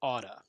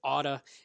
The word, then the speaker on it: ought to: good level so i i recommend writing ought to but pronouncing otta so as we go through from here on as we continue i will pronounce it auto instead of ought to all right now the